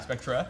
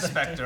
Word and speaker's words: Spectre: Spectra? Spectra Is is- that James Bond movie? I think it's adorable that you pronounce it that way. Even that is Spectre also, but it's okay.